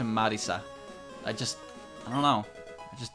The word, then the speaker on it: Marisa: So whenever I read Marissa, I read Marissa. But if I read Kirisame, or even if I see it in the corner of my eye from while reading the sentence, I will instantly change my pronunciation to Marisa.